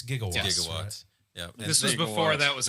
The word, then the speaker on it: gigawatts: watch is mispronounced correct it is it's gigawatts this is before that